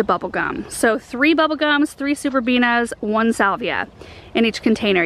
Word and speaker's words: Superbena: This is called Superbenia. Superbena, did I just say Benia? Oh my gosh, harkening back to the year where I could not get that pronunciation right.